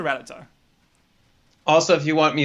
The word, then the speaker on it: Rattata: the presentation of rattata i actually used to prefer rattata as the pronunciation but i heard ratata too many times i believe it is the canonical pronunciation so i've i've switched to ratata also if you want